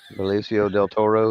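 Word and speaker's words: Benicio del Toro: over there yeah say that again real quick ficio Del Toro isn't that his name it is absolutely I'm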